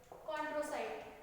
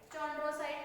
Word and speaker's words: chondrocyte: कॉन्ड्रोसाइट, चॉन्ड्रोसाइट नहीं करना है, CH है तो, ठीक है, because this concepts are totally new फॉर यू।